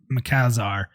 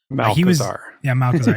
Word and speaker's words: Malchezaar: He said I can never pronounce his name right. Malchezaar. Malchezaar.